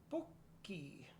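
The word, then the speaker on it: Pocic: Pokey. I think that's how we would pronounce that.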